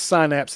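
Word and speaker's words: Psynapse: No silent p at the beginning. And this is different. A different more of a syninnapse for that one and more of a sinapse for this one.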